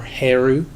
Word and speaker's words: Horus: child is known as Horus or or heru again depending on the time of the place pronunciation may change the Horus is the Greek version of the name now uh Isis flees